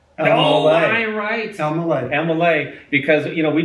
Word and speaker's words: Elmaleh: Will hear Elmaleh. Mm-hmm. Oh, man. But it's pronounced Elmaleh. Elmaleh.